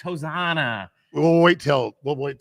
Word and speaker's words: Hosanna: No. Hosana. Hosana. Hosanna. It's Hosanna.